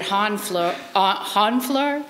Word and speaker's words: Honfleur: So the last one I'm going to read, this is actually, I'm dedicating this to Yvonne, and this is called Monet at Honfleur.